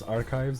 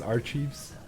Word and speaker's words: archives: of knowing perfect I actually learned how to pronounce archives because of this game I actually thought it was our Chiefs because in our English yeah in French it's